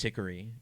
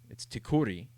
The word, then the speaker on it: Tikkuri: family pronounces it, Tickery, but it's not pronounced Tickery. You know, if you ask a Finnish person how it is, it's Tikkuri. And it rhymes with Hickory Dickory Dock.